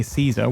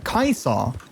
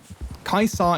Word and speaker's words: Caesar: caesar people always say caesar with like you know like a a soft sea um but technically you know in accordance to like you know old latin pronunciation it would be uh kaiser kaiser is actually how you